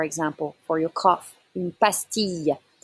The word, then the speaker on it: pastille: Une pastille. Listen, it's not a L sound, it's a Y sound. Une pastille.